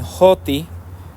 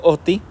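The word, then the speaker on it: ὅτι: clase de es OTI algunos lo traducen hoti con como la h en inglés más o menos este algunos lo pronuncien así yo lo pronuncio OTI este está indicando la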